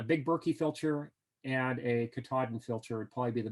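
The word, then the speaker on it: Katadyn: like a Katahdin filter, and that's spelled Katahdin, K-A-T-A-D-Y-N, but spoken Katahdin, like Mount Katahdin in, where's that, Vermont or New Hampshire.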